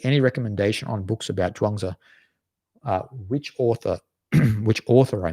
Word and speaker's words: Zhuangzi: It's called The Complete Works of Zhuangzi, but Zhuangzi is spelled here CHUAN space TZU, and this is the way, that's the Wade Giles romanization.